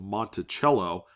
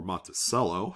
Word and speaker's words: Monticello: parts of monticello or monticello however you want to pronounce it i always say both because someone always says oh it's pronounced monticello like you know the instrument you play or it's monticello so we're just gonna